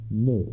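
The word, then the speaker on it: Misch: Mish, and Mish is spelled M-I-S-C-H.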